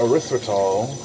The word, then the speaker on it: erythritol: the most attempt to say this sweeteners name erythritol erythritol finally said it right after like a week